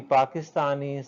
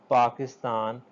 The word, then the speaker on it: Pakistan: Or even when we say, when we Pakistani say this word Pakistan, we have pure pa sound, whereas the English speakers, the English people pronounce it like this, Pakistan.